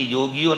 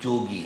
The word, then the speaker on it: یوگی: میں لگے رہتے تھے۔ اس کا ہندی تلفظ یوگی ہے، اردو تلفظ جوگی ہے، دونوں ایک ہی ہیں۔ یہ توجہ بڑی عجیب